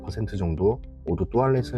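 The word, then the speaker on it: toilette: 텐데요 르펜은의 프랑스식 발음입니다 다시 살펴보면 뚜알렛 영어 식으로는 토일렛이 해야 하지만 역시 프랑스식으로 뚜알렛 발음합니다 이렇게 형성된 데는 나름의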